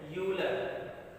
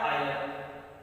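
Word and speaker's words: Euler: ठीक है, ई क्या है, ई का जो नाम है, जो लिखा जाता है, इसकी स्पेलिंग होती है यूलर, ऐसे लिखा जाता है, लेकिन इसको पढ़ा जाता है आयलर।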